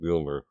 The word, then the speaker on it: Mjolnir: I used to say Mjolnir, but they say it's pronounced Mjolnir.